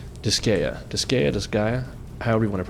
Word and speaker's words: Disgaea: That's right, Disgaea, however you want to pronounce it, Disgaea.